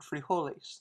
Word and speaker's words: frijoles: the water notice that in the word frijoles the j is pronounced like an h and in the word